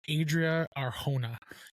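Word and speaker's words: Adria Arjona: But Adria Arona is how you pronounce it.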